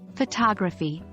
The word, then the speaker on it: photography: consider the word photography here the stress pattern is secondary primary unstressed unstressed fagi notice how the second syllable is stressed more than the first which is the secondary stress and the last two syllables are unstressed identifying primary and secondary